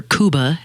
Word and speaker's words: Cuba: many shows now that Cuba's kind of been opened up or kuba as it is pronounced and and we see